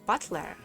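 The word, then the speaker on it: Battler: far the problem is my given name yeah is made up for characters for fight and person and is pronounced Butler oh what this is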